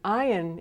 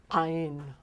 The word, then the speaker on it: Ayin: But the silent letter "Ayin" is a silent letter that comes from your throat. It's a guttural silent letter. It catches. So if I were to say for example "Aleph". It's "Aleph". If I were to say "Ayin". It's "Ayin". "Ayin". Comes from deep.